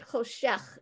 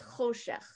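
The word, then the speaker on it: חֹשֶׁךְ: That's telling you that that's the syllable that gets emphasized. So it's not choshech, it's choshech.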